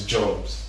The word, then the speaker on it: Jogbs: It's Jogbs. Jogbs. So the G is silent.